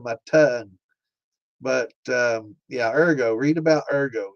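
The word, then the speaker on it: ergot: Erggo, thank God.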